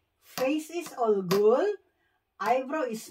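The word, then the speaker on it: 얼굴: Face is olgul.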